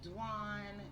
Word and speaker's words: Dwan: dwan d w n it is pronounced like Juan with a D dwan dwnn um for